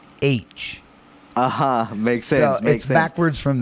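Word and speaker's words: Aitch: just the letter H they spell it a-i-t-c-h but they pronounce it h uh-huh makes sense backwards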